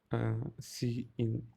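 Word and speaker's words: cin: is a predefined identifier c in pronounced as c in uh this that indicates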